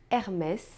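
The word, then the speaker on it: Hermès: de vez em quando se a palavra se termina com a consoante S você também deve pronunciar o som de s é o caso de Hermes e também de Lourdes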